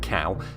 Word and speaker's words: Kao: The characters pronounce it Cow, but I can't help but think it should be KO.